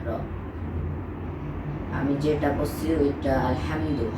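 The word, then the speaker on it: الحمد: আমি যেটা করছি ওইটা আলহামদু হাটা হচ্ছে একটা হা লম্বা হা বড় হা আরেকটা হা আরেকটা হা আছে এই হা গোল হা গোল হা উচ্চারণ করতে হয় গলার এদিক থেকে আর বড় হা উচ্চারণ করতে হয় গলার মাঝখান থেকে মাখরাজ জানতে হবে এখন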